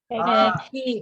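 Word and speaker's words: ケーキ: Pag tinanong pala kayo ng anong Japanese, paano i-pronounce yung cake sa Japanese? Keki. Keki. Yan. Tama.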